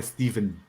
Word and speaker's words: Stephen: Apesar da forma como se escreve, supostamente é Steven, como se tivesse um V.